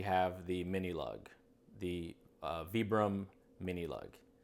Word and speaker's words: Vibram: the mini lug the vibram mini lug I know I say Vibram oh but this is an Italian bram Italian brand so the pronunciation would be Vibram zebra mini like on the iron